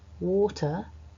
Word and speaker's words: water: such as very but there is some caution to be taken when we see an R written at the end of certain words in English like the word water when we pronounce this word individually on its own so not in a sentence water actually as a British English speaker I'm not pronouncing the are an American might pronounce this sound much more clearly than